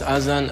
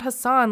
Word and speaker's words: Azan: is my fiance Nicole he says as in here not Hassan like his first interview so because he's saying his name this way I'm going to pronounce it as he does in the interview did he just stick